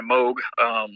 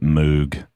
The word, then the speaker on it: Moog: I always mispronounce it Moog. Yeah, I did too for a long time. And then I got corrected when I went to the factory. They're like, no, it's Moog.